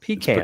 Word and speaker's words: pecan: Pecans, It's pecans.